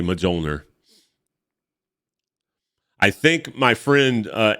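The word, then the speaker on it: Mjölnir: who called it majilder I used to pronounce it as a kid majoner I had no idea what how to pronounce that I would say majulner I think my friend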